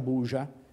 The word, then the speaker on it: Burza: Quindi, quando scoppia quella che in seguito sarebbe diventata l' Operazione Burza, il nome è scritto "Burza" ma pronunciato "Buja", non una bella parola, ma almeno se la trovi scritta da qualche parte.